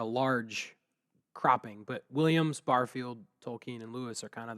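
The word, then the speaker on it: Tolkien: closest friendship was with tolken and I pronounce it that way because I believe it's the way he pronounced it yeah um later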